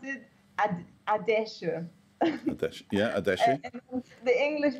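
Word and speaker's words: Adeje: How do you say Adeshi? I say it like an H with a little bit of guttural throat. Adeshi. Yeah. Adeshi. It's funny, actually, because it's like the Germans pronounce it Adeshi.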